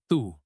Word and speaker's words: the: The becomes thu.